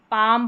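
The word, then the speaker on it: palm: इसमें भी म साउंड रहता है क्योंकि पाम पढ़ा जाता है।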